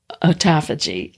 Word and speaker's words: autophagy: It improves longevity and promotes autophagy or autophagy, depending on which camp you are in and how to pronounce that. I was taught autophagy long time ago, which means the destruction of damaged or redundant cells.